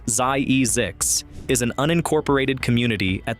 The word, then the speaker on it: Zzyzx: Zzyzx, pronounced ZIE-ZIX, is an unincorporated community